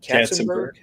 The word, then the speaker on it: Katzenberg: Katzenberg?